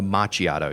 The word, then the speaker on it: macchiato: but have you had anybody call it a macchiato yet?